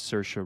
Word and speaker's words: Saoirse: I think it's pronounced Saoirse. Who played Saoirse? You're talking about like not Saoirse Ronan. That's how we pronounce it. It's Saoirse Ronan.